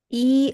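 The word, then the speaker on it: 一: So in Chinese language one which is known as e is actually pronounced as yao whenever we are talking or speaking telephone numbers, room numbers and bus number.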